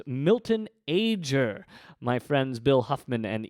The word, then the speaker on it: Milton Ager: somebody whose name I mispronounced it is indeed pronounced Milton ager my friends bill Huffman and Ethan Uslan were